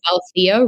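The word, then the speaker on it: Althaea: she wants to become so it's Alia rising and um it's spelled a little differently a l t h aea Rising which um is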